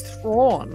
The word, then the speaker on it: Thrawn: but I was like it's it's thrawn like prawn actually I think it